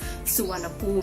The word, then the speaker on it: Suvarnabhumi: The airport in Bangkok is, although it is spelled as Suvarnabhumi, it is actually pronounced as Suvarnabhumi and not Suvarnabhumi, as many foreigners mistakenly pronounce it.